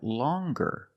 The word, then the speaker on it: longer: But then you have longer, where we have the hard g sound.